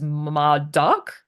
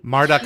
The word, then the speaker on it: Marduk: it funny though that despite Jack mispronouncing Muk as M duck I think is how he says it yeah he's not had any issues getting any of the Russian team members names right in this episode it's like weird it kind of goes to show that he's not as clueless as he sometimes makes himself out to be Marduk is also a common pronunciation ah okay cuz someone